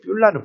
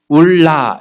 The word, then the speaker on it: 뿔라: 뷸라는 발음이 엉터리예요. 원래 결혼하다라는 결혼할 것이며 이게 바알이에요. 바알이라는 것은 우상의 이름이기도 하죠. 주인이 되다, 주인, 남편 그런 뜻도 있거든요. 바알에. 그런데 이 바알의 명사형으로 만들은 그러니까 바알을 배울라 이거거든요.